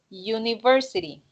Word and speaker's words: university: University. University. Again, the same. So university sounds more like this. University. And same thing, okay? As it's a consonant sound, you need just the article a.